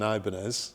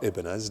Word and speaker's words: Ibanez: Every guitar I had was an Ibanez. Yeah. Or Ibanez, depending on how you pronounce it.